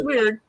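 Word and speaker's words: Wyrd: yeah, it's weird.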